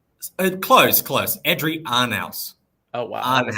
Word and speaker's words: Adrian Arnaus: Adrian Arnaus. Oh, wow. That was not close. Kind of rhymes with house.